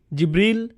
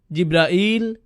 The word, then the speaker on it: জিব্রাইল: উচ্চারণ করেন তার নাম জিবরীল জিব্রাইল জিব্রাইল জিব্রাইল জিবরীল এই পাঁচ ভাবে তার নাম উচ্চারণ করা হয় আর এটা বিভিন্ন কিরাতের মাধ্যমে বর্ণনা করা হয়েছে ইল ইল মানে আল্লাহ